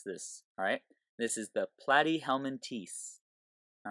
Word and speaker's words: Platyhelminthes: these flat worms are found in is the platy helman teeth that's how you pronounce this alright this is the platy helman teeth all right and so these platy hummin teast